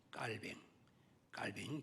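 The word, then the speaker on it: Calvin: 켈빈, 깔뱅 정확한 발음입니다.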